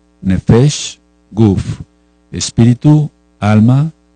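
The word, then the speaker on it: נפש: bueno por tu vida nef n de Nene e f de foco otra e la letra s y la letra h nefes y cuerpo es decir la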